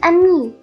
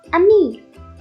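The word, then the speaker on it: ami: say friend in french the word is a me my mom says you say it like this a me i love french everything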